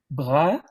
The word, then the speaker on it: Brahe: Donc, ça se prononcerait Tue ou Tuke, Bra, le E se prononce pas, et pour une raison quelconque, il a changé son nom en latin pour écrire Tycho.